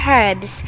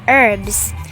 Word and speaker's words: herbs: it on herbs the british pronunciation is herbs with an h while american pronunciation is herbs without the h quite simple just like